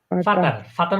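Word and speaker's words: Vater: ফাতা ফাতা এ নরমালি শিখেন ফাতা এটা কিতার ফাতার মানে হচ্ছে আমরা ইংলিশ ইংলিশে যেটা বলি ফাদার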